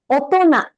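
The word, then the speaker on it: 大人: We pronounce it as otona. Otona. That sound doesn't come from either of this kanji.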